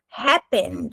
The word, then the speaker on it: happened: What happened? Vou até colocar a pronúncia aqui. Happened. Um D quase nenhum, ok? Happened, com ré bem forte.